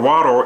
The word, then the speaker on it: water: speech impediment, even though the T in the word water is pronounced as a soft D. If you go in the dictionary, it is pronounced as a D, not a T.